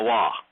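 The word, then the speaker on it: Waw: with rabbinical types, and you say that the Wah is pronounced as an O, they say no, it's a V. I say no, it's not. Except there is no V. There is no V in Hebrew.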